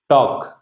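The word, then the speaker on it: talk: और फिर है टॉक, टॉक में एल साइलेंट है, ठीक है?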